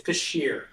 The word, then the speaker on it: Pschirer: with the theme of butchering names, is it Pschirer versus St. Clair Hospital and everybody? It's Pschirer.